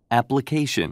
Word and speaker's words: application: application, 이렇게 강세가 뒤에 있어요.